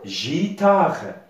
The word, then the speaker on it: guitare: vie la voyait une alors comment ça commence à se prononcer elle va se prononcer gitard jta alors pas l'être